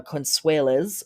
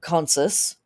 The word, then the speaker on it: Consus: to the god uh conseles or uh uh consus pronounced both ways a tary deity of